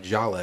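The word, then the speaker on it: Djalia: brother Voodoo ashra said it's pronounced Jala ignore the D okay okay I probably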